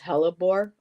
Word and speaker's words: hellebore: It's pronounced Hellebore, okay, or Hellebore, okay, Hellebore.